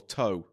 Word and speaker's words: Tough: Tough or toe. Tough. T O U G H. Their name is spelled tough.